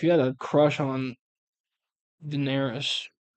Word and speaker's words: Daenerys: bro just had a thing for Daenerys D. How do you say her name? Daener Daenerys.